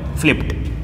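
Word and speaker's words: flipped: तो फ्लिप, प साउंड आ रहा है तो डी, ईडी का उच्चारण कीजिएगा ट, फ्लिप्ड। ये देखिएगा, फ साउंड, फ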